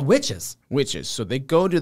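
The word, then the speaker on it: Wytches: famine if you've read witches or watches as nick from key collector comics calls it because it's spelled with and why um comment down below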